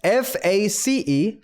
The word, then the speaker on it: face: face, face 그리고 할 때도 약간 발음 자체, 단어 자체 발음을 딱 시작하기 전에 그 F 같은 경우에 발음이 새 나가는 시간을 살짝만 두세요.